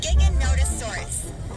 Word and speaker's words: Giganotosaurus: Dinosaurs, but its name is pronounced Giganotosaurus.